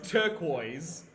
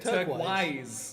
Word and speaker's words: turquoise: So the the word as most people know it is turquoise. And you said it turquise.